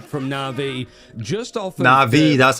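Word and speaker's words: NAVI: It's a complete team wipe from Na'Vi just off of Na'Vi.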